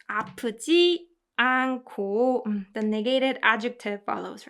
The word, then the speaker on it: 않고: The reason why I pronounce it like 코 is because 히읗 받침 combined with 히읗 produces k sound, right? So that's why this whole phrase together is pronounced 않고.